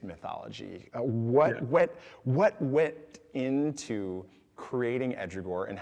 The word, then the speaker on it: Ehdrigohr: So part of your gaming and your focus on tabletop gaming has been in developing and nurturing the project of Ehdrigohr. How do Yes. proper Ehdrigohr, pronunciation?